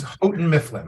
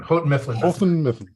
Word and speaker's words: Houghton Mifflin: I'll let them actually tell us how that's actually pronounced, because my dyslexia gets in the way there. Yeah, it's Houghton Mifflin. Houghton Mifflin.